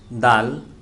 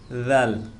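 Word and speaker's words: دال: দাল, দাল, যখন এই দাল পড়ব তখন জিহ্বার আগা সামনের দিকে একটু বের হয়ে যাবে।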